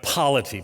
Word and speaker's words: polity: Now, a lot of it depends on your polity. Now, I'm not mispronouncing policy, but polity.